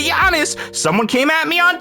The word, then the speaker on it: Giannis: I can say Giannis correctly because that's how you say Giannis. Someone came at me on TikTok and said I was pronouncing Giannis.